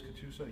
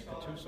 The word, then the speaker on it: Catoosa: I believe it is Catoosa, yes, Catoosa, Oklahoma. Did you spell that for me?